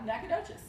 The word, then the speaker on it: Nacogdoches: trying to and not doing it so well pronounce them because they are super tongue twisters so we are on this Nacogdoches it's Nacogdoches okay is it really not good Nacogdoches Nacogdoches